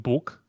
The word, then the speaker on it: buk: And there is also a tree called Buk, but it's spelled B-U-K.